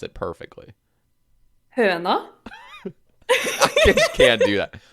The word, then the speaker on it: Høna: How you doing, Høna? I am mispronouncing that, by the way. I already know because it's Norwegian, Hello. right? Yes. So how do you pronounce it perfectly? Høna.